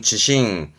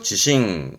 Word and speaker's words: 地震: 그렇죠 지진이 되는 거죠 발음은 지신 음은 신이죠 지싱 지싱 그렇죠 진동이나 신도 신도이 진동이라